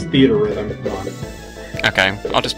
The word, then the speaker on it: Theatrhythm: I always pronounce it theatrhythm. No, it's theater rhythm.